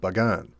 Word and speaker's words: Bagan: and the kingdom of Bagan at that time pronounced with a sharp P sound like Pagan during this time more